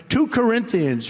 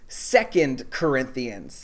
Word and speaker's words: 2 Corinthians: to church would know it's pronounced 2 Corinthians, not 2 Corinthians.